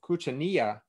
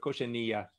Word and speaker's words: cochinilla: So it's cochineal in English, it's cochinilla in Spanish, but cochineal in Spanish means filthy, not cochineal bug. So it's cochineal in English, but cochinilla in Spanish.